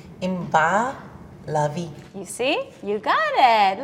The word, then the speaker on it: Inbar Lavi: and I love it the way you would really pronounce my name is you don't even want to go there wait yes okay you're ready yes in Bao lovey in BA lovey you see you got